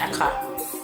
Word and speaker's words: akra: I said okra, I meant Akra. Don't come for me for saying it wrong. I meant Akra. I kept thinking of okra instead of Akra, which is what this is Akra.